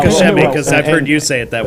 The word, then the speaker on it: Koch Chemie: So, Koch Chemie is the Good official luck. pronunciation. Now the K in the middle is often missed because they say it so fast.